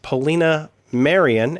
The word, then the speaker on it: Polina Marian: My name is Jason, and today we have with us a special guest, Polina Marian. Am I pronouncing that correctly?